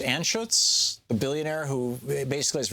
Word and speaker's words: Anschutz: Any discussion of Philip, is it pronounced Anschutz, the billionaire who basically is responsible for Gorsuch's career?